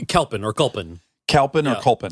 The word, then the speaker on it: Kalpen: Kalpin or Yeah. Kulpin? Kulpen is like how you actually pronounce it.